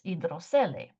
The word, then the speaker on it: hidrocele: In Spanish, it's hidrocele. Okay, so it's written the same, but it's pronounced completely different.